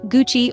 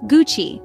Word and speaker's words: Gucci: quick tutorial it's not Gucci or gucky in Italian it's pronounced Gucci with a hard G as in good and a soft Chi like in cheese founded in Florence Italy